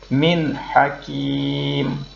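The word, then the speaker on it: مِنْ حَكِيمٍ: Maka bacanya min hakim. Jadi tidak boleh dibaca dengung. Bacanya harus jelas dan terang.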